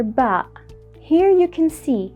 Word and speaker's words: باء: in the Arabic alphabet it is equivalent to the letter B in English ba is easy to pronounce and detect because it is identical to the English letter B but unlike the letter